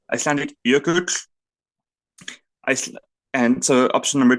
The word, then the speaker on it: jökull: There's Icelandic jökull. Oh, hang on. Hedvig as the Icelandic adjacent person. Jökull. Actually, I can pronounce it.